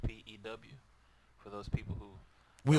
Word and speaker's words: Pugh: You say it Pew. It's pronounced P-E-W for those people who... We are. So that is right. Pew.